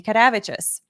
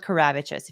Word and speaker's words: Kadavicius: Mandy Kadavicius, because if Nick Ricade is watching, that is how you pronounce her last name if you're Lithuanian. Or you can go with Karavicius if you can't roll your R's, but that's fine.